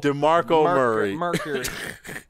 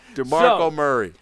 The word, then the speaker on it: DeMarco Murray: No, I said his name wrong, actually. Okay, you just said it wrong. DeMarco Murray. DeMarco Murray.